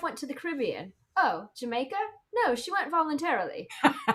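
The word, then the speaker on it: D'yer Mak'er: of the Holy that I always heard pronounced like, wait, how did I hear it pronounced? Dire Maker. Yeah. And it wasn't until somebody told me the story, that it's actually based on like, it's pronounced Jamaica, like because it's got the reggae feel, and it's based on a joke.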